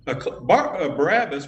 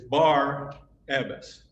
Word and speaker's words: Barabbas: in a minute um barabbas we say his name wrong actually it's bar abbess which means son of father some of the early